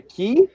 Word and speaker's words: qi: Yeah, key. Yeah. Key. Think quiche, but how you would actually spell it if you didn't exist.